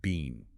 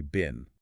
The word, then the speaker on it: been: British, will pronounce it bean, as in baked bean. Like, I have been to the store. Exactly. But standard American pronunciation is simply bin, or take the word student.